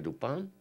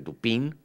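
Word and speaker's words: Dupin: Y entonces dice ya que conoció a un señor Auguste Dupán, Auguste Dupín, si lo pronunciamos en español y que tienen una cierta amistad, eh, y acostumbran echarse algunos paseos por Bonmark.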